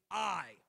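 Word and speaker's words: aye: yay or nay vote they tend not to say yay or nay because yay or nay rhyme so I or no is how you pronounce it if you don't want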